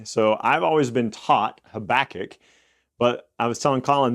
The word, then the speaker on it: Habakkuk: So I've always been taught Habakkuk, but I was telling Colin that in college I heard somebody call this book Habakkuk, and I was like, that kind of sounds fun.